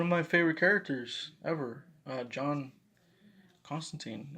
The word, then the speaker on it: Constantine: my favorite characters ever John Constantine or taxi pronounced cost and time in the comic books but John Constantine he's